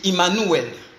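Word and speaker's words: עמנואל: Emmanuel qui en hébreu se dit Immanuel en hébreu.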